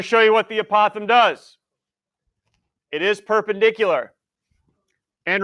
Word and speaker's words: apothem: to pronounce this but anybody apothem yes I've heard a Pithom before if anybody said a Pithom X but it is not a possum all right opossum all right opossum apothem I just want to